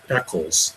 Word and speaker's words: Echols: There's this guy, Damien Eccles, and it's pronounced Eccles, but it's spelled ECHOLS.